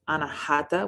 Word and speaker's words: Anahata: heart chakra is air in sanskrit it is pronounced anahata which means unhurt or unstuck the crystals that